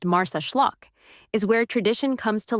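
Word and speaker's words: Marsaxlokk: Nestled on Malta's southeastern coast, the fishing village of Marseeklock, pronounced Mars Schllock, is where tradition comes to life in Technicolor.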